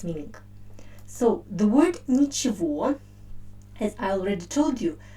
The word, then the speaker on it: ничего: and only one it's meaning so the word nichivo as i already told you the main uh